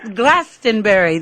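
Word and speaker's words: Glastonbury: hello from glastenbury Gast glastenbury that's how it's pronounced well that's it that's that's that's how you pronounce it if you live here oh okay well listen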